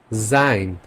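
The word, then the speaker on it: sein: আরো কিছু কম্বিনেশন শিখি যেমন এ আর ই মিলে এটার উচ্চারণ হবে আই এর মত এক্সাম্পল দেখাই জাইন ডাইন মাইন জাইন মিন্স টুবি ওকে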